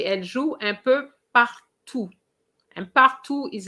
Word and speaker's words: partout: And you say elle joue un peu partout. And partout is like surtout. There's no E after the T, therefore you don't pronounce the T.